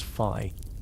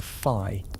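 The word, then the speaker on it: phi: The golden ratio is a number usually written as fi that's spelled ph hi pronounced like f.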